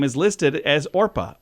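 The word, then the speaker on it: Orpah: name is listed as orpa o r p a a Biblical fig figure it was often mispronounced as Oprah and that just eventually stuck but her name officially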